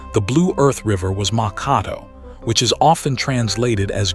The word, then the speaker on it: Mankato: An early clerk or mapmaker slipped, transposed a couple of letters and wrote it down as Mankato with an N.